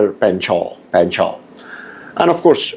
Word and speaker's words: Panchal: Sagar Panchal, it's in the US it would be pronounced as Panchal. In India it's pronounced as Sagar Panchal.